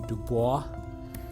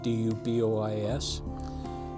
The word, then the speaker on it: Du Bois: sent out a man senator whose name was Du Bois that was how you pronounced the last name do you bo is and when he came here to do the